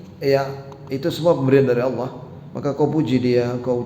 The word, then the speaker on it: Allah: Antum kalau manggil nama Allah harus fasih, ya. Allah. Jangan Allah. Ya. Jangan Allah. Ya Allah. Mana coba? Ya, jadi harus fasih. Pengucapan itu tidak boleh keliru, tidak boleh lahan, tidak boleh Allah, ya Allah, ya Allah musta'an. Jadi yang benar apa? Allah.